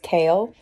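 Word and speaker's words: Chaol: It's the Gaol, C-H-A-O-L, and the pronunciation I looked up said it was pronounced Kale.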